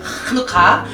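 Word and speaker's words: חנוכה: 하누카는요, 이스라엘 발음, 히브리 발음을 하누카예요. 하누카.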